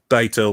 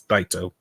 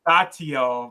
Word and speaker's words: Daito: Also, just for the record, the name's Daito. Like, I know it's hard to pronounce at times, but it's Daito. Yeah. Like, I always said Datio, but I'm wrong too. It's fine. Just imagine die and toe. Like toe.